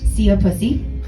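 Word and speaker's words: szia puszi: My favorite is that the saying, "goodbye kisses" in Hungarian is pronounced "see a pussy."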